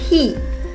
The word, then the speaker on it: he: Luego tenemos el pronombre personal he. He. En inglés, la H es pronunciada. Hay algunas excepciones en las cuales no se pronuncia, pero en este caso sí lo hacemos.